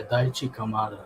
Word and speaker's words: Daichi Kamada: stitch and how much um how do you pronounce kamada daishi kamada yeah daichi kamada yeah yeah yeah uh he was very good